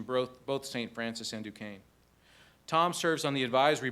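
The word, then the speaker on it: Duquesne: How do you say that? Dukane. It doesn't look anything like Dukane.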